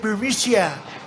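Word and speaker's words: Burisma: with the burmese executives so this uh burmesia bermusia they say pronounce it borisia a real beautiful company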